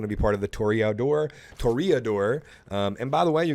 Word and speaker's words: Toreador: But during that whole experience, I learned that it's not Toreador, it's Toreador. So I'm going to say it like that. That's the way they say it in the thingy thing.